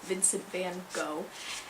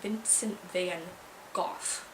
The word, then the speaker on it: Vincent van Gogh: Vincent van Gogh, and the British say Vincent van Gogh. So I was really curious about how you actually pronounce it, and I looked it up online, and they actually have audios of Dutch people, Dutchmen and Dutch, it was a Dutchman, pronouncing it, and it was Vincent van Gogh.